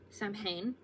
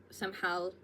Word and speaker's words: Samhain: Mabon, harvest home or fall equinox, and then finally we have Samhain, Samhain, there's multiple ways of pronouncing it, or Halloween.